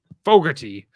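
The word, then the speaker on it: Fogarty: so yeah down in fog Cove FY it's pronounced Fogerty uh it's a nice little a lot of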